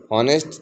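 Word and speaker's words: honest: हॉनेस्ट, telling the truth, not false, हमेशा सच बोलता है। ये साइलेंट लेटर्स हैं। हॉनेस्ट, इसमें एच ओ जो है, ये एच नहीं पढ़ा जाता, ऑनेस्ट कहा जाता है, नॉट हॉनेस्ट।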